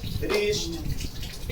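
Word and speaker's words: wrist: क्या है, यदि किसी वर्ड के शुरुआत में डब्ल्यू के बाद आर आता है तो प्रायः डब्ल्यू का उच्चारण हम नहीं करते। For example राइट, Rome, रिस्ट, इटीसी।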